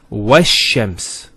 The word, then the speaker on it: وَالشَّمْسِ: This is al of definiteness. This is hamzat al-wasl. It's not pronounced, because there's something before it. Similarly, this lam is not pronounced either, because as we said, this is from the sun letters, and there's a shadda there. So it's wash-shams.